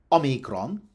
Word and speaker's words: omicron: Omicron is stressed on the first syllable. Stress in Greek in general is unpredictable, but in this instance, it's a compound of o, the letter, and mikron, little o, literally. And compounds in Greek are accented as far back in the word as ancient Greek allows phonologically, in this instance, the initial syllable.